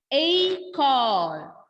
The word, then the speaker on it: école: When laxo ague will come, yuh pronunciation of E will change to A.